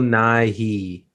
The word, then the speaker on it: Nighy: McAdams, Bill Nye, not Bill Bill Nye, Nye, Bill Science Guy. Nighy. No, not the Oh, science okay. guy. No, this is a Bill Nighy.